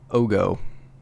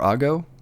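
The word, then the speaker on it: Oggo: It is called the Mobile Pod Ogo. Or Ago? Oh, how do you say it? I say Ogo. I say Ogo, because it rhymes with oh no.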